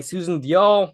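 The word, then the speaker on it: Susan Diol: I love Susan Dol. Played by Susan Dial. I know the pronunciation now because Ali has said it several times.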